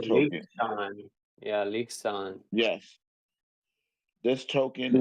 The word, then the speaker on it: Liechtenstein: LCX stands for Liechtenstein Crypto Assets Exchange.